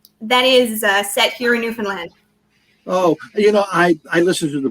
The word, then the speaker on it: Newfoundland: Newfoundland. How do you pronounce it? It rhymes with understand. Understand, Newfoundland.